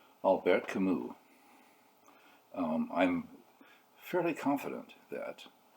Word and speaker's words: Camus: albert camus um i'm fairly confident that i am pronouncing that reasonably well albert camus although i do not speak french in high